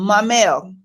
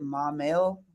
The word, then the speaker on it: Maumelle: going outside we answered that from Michael um my mail Katie Coy was asking about Maumelle Arkansas and